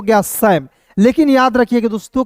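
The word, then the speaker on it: Sam: फिर देखिए दोस्तों यहाँ पे एस ए एम को क्या पढ़ेंगे, एस ए एम को पढ़ेंगे दोस्तों सैम, शाम नहीं पढ़ेंगे, ठीक है।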